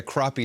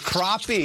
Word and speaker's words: crappie: Is that how it's said? Crappy? It's crappie. Crappie, yes. that's how it is? Yeah, that's how it is. Well, it's spelled crappy.